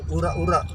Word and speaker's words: Urek-Urek: Ya, tulisannya itu urek-urek lur. Tapi kalau orang Jawa Timur bacanya itu urak-urak.